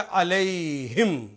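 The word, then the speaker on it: عليهم: जब 2 नुक्ते लगाए तो ये प्रोनाउंसिएशन हो गया अलैहिम, उन सब पर।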